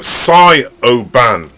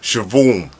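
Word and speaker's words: Siobhan: like this name as well it sounds like psy o ban right the way that when you look at on a piece of paper it looks like psy oh ban yeah but it's pronounced shivoham things are spelt are so confusing yeah it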